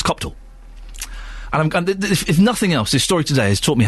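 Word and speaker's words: Copthall: say it cop because I thought is it cop cop hall or copall it's neither it's copall and I'm if nothing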